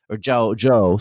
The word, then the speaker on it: Zhou: But the earlier part of the Zhao dynasty, like Zhou, sorry, excuse me, like I gotta pronounce it correctly.